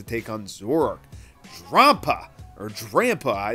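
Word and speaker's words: Drampa: on work roppa or DRAM pie it's like the grandpa a dragon so I think grandpa is the definitely the right way to pronounce it has a base 150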